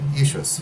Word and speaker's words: Jesus: But even in King James time, they wouldn't have said Jesus. They would have said Iesous, which sounds very much just like the Greek and the Latin.